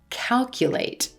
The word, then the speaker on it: calculate: When you have a word that ends in ate, if there's more than 2 syllables, the emphasis or stress is going to fall 2 syllables in front of the suffix.